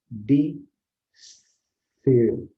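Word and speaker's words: descer: De, ser. Olha só, eu não pronuncio o C ou não pronuncio o S, com os dois símbolos S e C, eu represento apenas um fonema.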